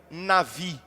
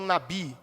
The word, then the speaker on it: navi: através da palavra profeta em hebraico seria navi navi falam nabi porque a letra é a mesma em hebraico que se se pronuncia lá. Então o correto seria nav quantas vezes?